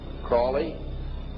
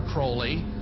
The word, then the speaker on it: Crowley: learned about was Alistair Crawley he likes to have his name pronounced Crowley to rhyme with holy and uh the Satanist